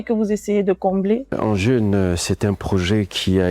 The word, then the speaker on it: Andjeun: On en parlera au cours de cet entretien, mais commençons déjà par votre dernier bébé, votre dernière création, Engine. C'est ainsi que l'on prononce.